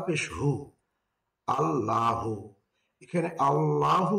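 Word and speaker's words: اللهُ: জবর লা হা পেশহু আল্লাহু এখানে আল্লাহু কে পড়তে হবে আল্লাহু কেননা লাফে আল্লাহর পূর্বে যদি জবর অথবা পেশ হয় তখন লাফে আল্লাহর লাম হরফকে মোটা করে পড়তে হয় এজন্য পড়তে হবে আল্লাহু হামজা সদ জবর আস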